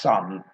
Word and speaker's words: Son: Hannon was on there, and he said this isn't named after the Tottenham footballer, Son. He said this is pronounced Sun, as in sons and daughters.